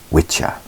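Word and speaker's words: Wicca: of course the circles revolving around wiah now wikka properly pronounced in the ancient tongue is called witcha and this word is derived from the old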